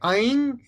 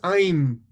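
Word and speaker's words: ऐं: And of course, in the North Indian way of pronouncing, they will say Aing, and in South Indian, you will say it as Aim.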